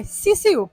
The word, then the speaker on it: Sisu: I just can't ever remember how to pronounce her name. Okay, Sisu.